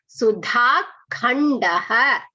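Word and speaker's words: सुधाखण्डः: Eshaha Sudhakhandaha. Eshaha Sudhakhandaha. You should pronounce this properly. The and ka. Okay, observe that.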